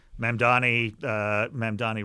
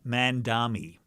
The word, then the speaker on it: Mamdani: It's a 3-syllable name. Yeah. It's very phonetic.